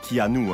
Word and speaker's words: Keanu: anglaise hawaïenne et chinoises son nom qui normalement se prononcent keanu un pack in your